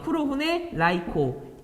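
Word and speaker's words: 黒船来航: 이게 일본어 발음이에요. 쿠로후네, 라이코.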